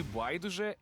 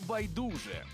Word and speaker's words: байдуже: слово І знаєте що тут наголос подвійний можна казати і байдуже і байдуже українська мова 11-й клас